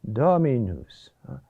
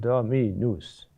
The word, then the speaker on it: dominus: It's dominus, not dominus. It's not two intensive syllables, one after the other.